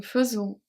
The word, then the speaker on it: faisons: Faisons, the S is silent, of course.